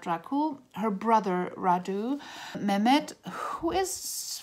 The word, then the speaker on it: Mehmed: raku her brother Raju Mehmed who is for some reason pronounced Mahmud in the audio book but the way the name is written from the Turkish people that I know I totally pronounced a minute who's like the